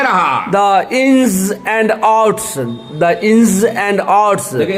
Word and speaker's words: ins and outs: इंस देखिए, जेड जो होता है उसका उच्चारण टंग को नीचे वाले दांत के पीछे टिपकाएंगे और घर्षण के साथ हवा निकालेंगे। इंस एंड आउट्स, इंस एंड